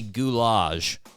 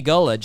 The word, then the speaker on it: Gullage: out the interview by calling him sunny gulage I don't know I don't know why I decided to pronounce his name like that but I was just like goulash that's how you do it and I really laid